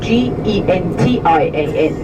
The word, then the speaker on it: gentian: In English, the flower is spelled very similar. It's G-E-N-T-I-A-N, gentian, like gentian violet.